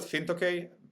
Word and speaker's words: Fintokei: Is it Fintokei? Is the correct way? Could be. We call it Fintokei, basically, just Okay. as it's written.